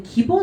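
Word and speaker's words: 義: 기라고 읽어주게 되는데 얘가 들어가면 무조건 기라고 읽을 거예요.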